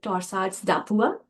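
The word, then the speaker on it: torsades de pointes: rhythm which is your torsads. Torsads by the way it's a French name. That's a funny name. Some people call it torsad dapua. That's how it should be pronounced because it's a French name.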